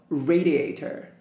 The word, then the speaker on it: radiator: DVD carpet sofa radiator pay attention to this address this address is in front of letter R so radiator fruit newspaper table letters